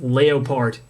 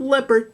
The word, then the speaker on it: Leopard: X Series and yes it is pronounced leopart not leopard like the animal that is because the